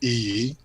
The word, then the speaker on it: Iyi: My name is Iyi. It's pronounced Iyi.